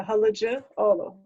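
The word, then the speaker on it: Halıcıoğlu: so you don't pronounce the G, so Olu, and C is a J, so halıcı, Olu.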